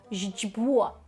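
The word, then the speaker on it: źdźbło: Так, це слово жджбо. Жджбо. Жджбо. Так, тому що маємо тут прям накопичення оцих е кресочок. Так, першу літеру ми читаємо як ж, тобто ж з м'ягким знаком, не плутаємо.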